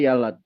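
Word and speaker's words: ילד: Yud lamet dalet hurufnya tulisannya, dibacanya yalad.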